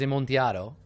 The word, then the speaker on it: Amontillado: Right, technically the pronunciation is Amontillado, but that's okay, sure.